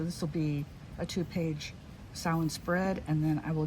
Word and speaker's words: Samhain: So this 2-page spread here is going to be for Samhain, what other people pronounce as Samhain, because that's how it's spelled, Samhain.